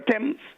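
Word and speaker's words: Thames: the th1 this morning especially the one where the t is capital the H is silent that's why we have the river temps that's why we have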